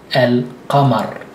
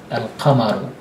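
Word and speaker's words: القمر: Therefore, you don't stress it at all, and you pronounce a, lam, and the qa. Al-qamar, al-qamaru, al-qamaru.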